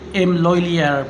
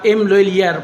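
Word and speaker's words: M. Lhuillier: Guys, karon nga adlaw, Domingo, na ako karon diri sa M. Loylier Pawn Shop, Claveria branch, or the correct pronunciation is M. Loylier.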